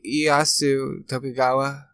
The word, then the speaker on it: Ieyasu Tokugawa: Ieyasu Tokugawa.